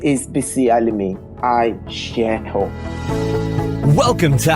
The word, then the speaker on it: Bisi Alimi: It's Bisi Alimi. Is that how I'd pronounce it? Yes, I got it it's right? Bisi Alimi.